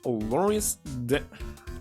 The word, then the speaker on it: Loris: And also, when I'm dressed like this, I call it Lori's an unpronounceable name. I forgot. Was actually checking how to pronounce it. So don't call me Lori. It's Loris.